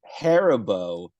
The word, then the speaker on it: Haribo: You ever hit the But the- pronunciation? the It's Star Haribo.